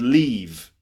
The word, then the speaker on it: leave: live and the word leave so live and leave okay you see the difference it's a short sound in live and a long sound in leave so live and leave